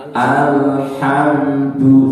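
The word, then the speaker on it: الحمد: Al lam itu bukan qalqalah, maka tidak dibaca al. Ini masih kadang-kadang ada yang bacanya alham. Al tahan satu harokat. Al apa namanya? Ditahan satu harokat ya. Tidak mantul juga tidak tertahan selalu lama.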